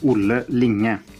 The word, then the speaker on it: Olle Linge: So my name is Olle Linge. That's how I pronounce it.